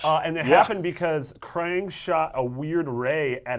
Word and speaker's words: Krang: It rhymes with bang. Oh, Krang.